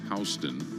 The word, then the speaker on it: HSTN: The new Oakley Meta HSTN glasses, that's actually pronounced Hston, start at $3.99 and climb to $500 for the limited edition gold mirror lenses for these glasses.